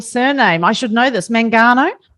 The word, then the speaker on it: Mangano: Mangano? Mangano, but in Italian it's Mangano.